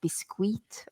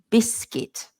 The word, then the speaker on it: biscuit: of the word biscuit when people see the U sometimes people try to say things like bisque or something like that which I think is like a French word as well and a Spanish word as well biscuit but we don't say it like that so we say biscuit so just ignore the U and just think of it biscuit biscuits and cookies you